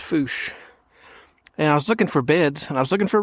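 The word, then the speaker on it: Fourche: with you here's the Belo River looks like forche but it's actually pronounced Foos and I was looking for beds and I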